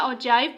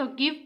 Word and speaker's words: ogive: अब cumulative frequency polygon या ऑजाइव polygon क्या होता है? अब ये आधे से स्टूडेंट्स गिव पढ़ते होंगे, मैं भी गिव पढ़ती थी, लेकिन आज प्रोनाउंसिएशन देखी और इसकी निकली ऑजाइव।